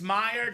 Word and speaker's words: Meyer: Okay, so Meyer from Rip. All right, so Rip, it's Meyer, Meyer.